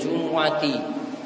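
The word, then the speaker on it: جُمُعَة: Idza nudiya lis-sholati min yaumil jumu'ati, bukan Jum'ati namun Jumu'ati, maka menyebut dengan Jumu'at itu lebih afdal, lebih utama daripada dengan Jum'ah. Namun dua cara baca tadi dibolehkan.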